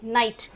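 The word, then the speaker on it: knight: जैसे नाइट के का कोई रोल नहीं है।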